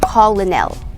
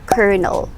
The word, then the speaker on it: colonel: with this word so this word is not pronounced as colonel no it's not pronounced as colonel we pronounce this word as kernel kernel say it all right so yes a